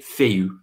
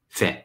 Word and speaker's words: fait: But we don't say fait. We don't say that in the participe passé form, in the passé composé. We say fait, fait with a silent T.